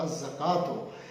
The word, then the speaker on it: الزکات: ہیں الشمس، الصلاۃ، الزکات، ان میں لام جو ہے اس کا تلفظ ادا نہیں کیا جا رہا، بولا نہیں جا رہا، بلکہ الف لام کا جو لام ہے وہ جو نکرہ حرف ہے اس کے پہلے حرف میں مدغم ہو گیا۔ تو یہ کیا بات